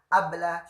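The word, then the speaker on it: قبل: Terus kalau barusan qabla syuwayya atau pengucapannya bukan qaf tapi hamzah, abla syuwayya.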